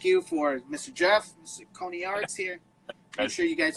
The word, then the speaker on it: Coniaris: I'm thinking like a cone, so cone starts with C, so Coniaris. If I say Coniaris, right.